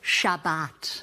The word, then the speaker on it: Shabbat: We pronounce it Shabbat.